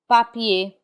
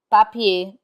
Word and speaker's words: papier: We do not pronounce the r in i e r. Instead, it has the a sound. Papier. Papier, which means paper.